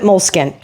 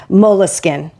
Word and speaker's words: Moleskine: I always called it Moleskine, not counting the E.